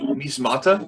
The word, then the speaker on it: Measmata: So this episode is going to be Measmata, right? Is that how you pronounce it?